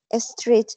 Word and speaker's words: street: Street. Recuerden que street. Si va doble, ajá. Recuerden que si va doble E, se pronuncia como I, street.